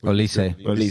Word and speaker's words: Olise: Is it Olise or Olise? Olise.